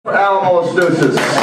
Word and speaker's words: Oliensis: Oliensis. Really go Oliensis? Come on, man. My name's not that hard. It's spelled O-L-I-E-N-S-I-S, pronounced Rabinowitz.